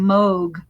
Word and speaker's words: Moog: i have a and he pronounces his name moog to rhyme anyway um yeah of